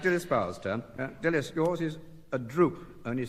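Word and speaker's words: drupe: Now it's Dispelis, yours is a droop, only spelled D R U P E.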